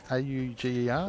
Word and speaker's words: Auger: And Wayne, how do you pronounce that? A-U-G-E-R? Auger.